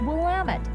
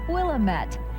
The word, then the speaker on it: Willamette: Notice that the correct pronunciation is Willamette, not Willamette.